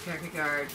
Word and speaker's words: Kierkegaard: Clearly Kierkegaard, when we start getting into Kierkegaard, very helpful.